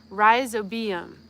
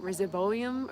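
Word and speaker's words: Rhizobium: I wanted to know how to pronounce it. Riseobium. Riseobium. We were talking about it. I've I've read about it. I've uh I know all about how you need to inoculate the soil with the riseobium and I was pronouncing it resolum or something like that.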